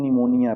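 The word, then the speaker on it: pneumonia: तो ये क्या पढ़ेंगे निमोनिया पी साइलेंट साम यहां पे एल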